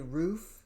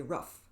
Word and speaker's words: roof: Canadians say roof, O is pronounced oo, like zoo. And Americans say rough, like rough, R-U-F.